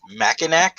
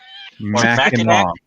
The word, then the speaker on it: Mackinac: Or Mackinac? It's mortgage. Mackinac.